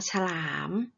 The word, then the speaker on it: ฉลาม: ว่า ขยาย ฉลาม สลัด เป็น คำ ที่ มี อักษร สูง นํา อักษร ต่ำ เดี่ยว นะ คะ ออก เสียง 2 พยางค์ พยางค์ แรก ออก เสียง อาจ กึ่ง เสียง และ พยางค์ ที่ สอง ก็ ออก เสียง เหมือน ที่ อ่า มี หอ หีบ นำ นะ คะ ที่ มา